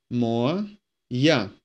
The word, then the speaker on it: моя: Моя. With the emphasis falling on я. That's why we pronounce this a.